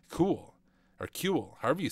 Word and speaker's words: CeWL: for a specific tasks overview cool pronounced cool is a custom wordless